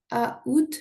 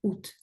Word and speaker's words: août: Exemple, août est une synérèse puisqu'il ne se prononce pas à août mais août.